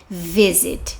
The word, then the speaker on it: visit: Não, porque o stress ou sílaba tônica está no V, visit.